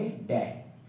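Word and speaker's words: debt: अब देखो यहाँ पे कभी भी हम लोग बी को प्रोनाउंस नहीं करते, पढ़ते हैं डाउट। और हम लोग बहुत सारे लोग, क्या मैं खुद पहले ही गलत पढ़ता था, इसको डेप्ट ही पढ़ता, लेकिन इसको पढ़ेंगे डेट, डेट, डाउट, क्लाइंब, डम, टॉम, बॉम्ब, लिम।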